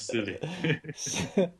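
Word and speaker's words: SIYLI: No, SIYLY is pronounced as silly.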